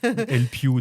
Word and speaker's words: Elpyoo: intro hein, Pierre avec Marc et Yann créé LP. D'ailleurs, je fais un petit focus. On dit LPO ou LP parce que alors LP donc E L P Y O O O O O se prononce LP.